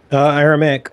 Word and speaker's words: Aramaic: Aramaic.